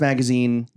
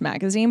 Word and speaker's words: Magasin: magaza it's like a it's definitely pronounced magazine but the name came